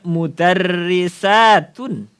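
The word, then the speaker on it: مدرسة: Ini bacanya mudarrisatun.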